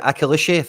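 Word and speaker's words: Akliouche: attack nice kind of support cast here with akishi that's how you say it and minamino in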